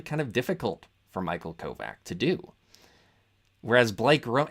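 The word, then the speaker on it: Kovach: compare the performance of Michael kovak which I believe is how you actually pronounce his name not kovat uh I'm not going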